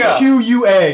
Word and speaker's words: Fuqua: That's how you say it, right? Fuqua? I'm pretty sure. That's what I've always thought that way. F-U-Q-U-A. Yes, Fuqua.